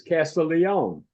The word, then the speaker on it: Castiglione: you yes sir I introduce you as Frank casteline but the pronunciation and the spelling is Castle Leon that's right why the difference well you know